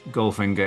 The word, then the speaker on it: Goldfinger: um but the the the easiest way to pronounce ginger in the style of Shan conry is if you drop the L and the D so it's just Ginger okay that's good stop